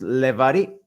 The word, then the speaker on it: Levari: Now, Ariel, is your last name pronounced Levari? You got it. Well Levari, done.